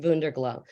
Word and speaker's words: WunderGlo: is called WunderGlo, and it's actually pronounced WunderGlo. So Wunder in German means miracle, and glow is Gloria.